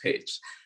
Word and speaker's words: Pécs: recommended at this moment i did not even know that the pronunciation was page so when i saw